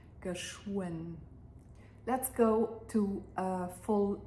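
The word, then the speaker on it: geschwënn: Notice that the W in geschwind is not pronounced as a V sound the way it is often pronounced in Luxembourgish, but here in the middle and after the sh, it turns into more of a w sound, geschwind.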